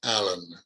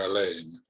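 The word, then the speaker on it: Alleyn: It probably was Edward Allen or Alain, depending on how you pronounce his name.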